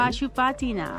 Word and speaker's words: Pashupatinath: after visiting this holy Pashupatinath. That's not how you say it. Pashupatinath.